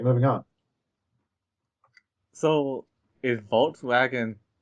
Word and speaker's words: Volkswagen: pronounce their W's like V's. Germans do. Mhm. All right, moving on. So, is Volkswagen Volkswagen? Volkswagen.